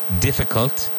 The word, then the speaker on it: difficult: Difficult, previous, next. Now, when you pronounce difficult, the final syllable is cult, not cult. Difficult, difficult. Difficult, previous, next.